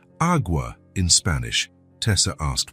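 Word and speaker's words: agua: "How do you say awa in Spanish?"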